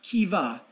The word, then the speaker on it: Keva: Kiva is an abbreviated abbreviated for key value pronounced Kiva in the short symbol is KVA it is